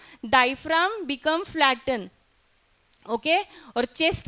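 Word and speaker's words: diaphragm: डायफ्राम। इसका spelling थोड़ा अलग है। डी आई ए पी एच आर ए जी एम हां जो जी है हां साइलेंट है।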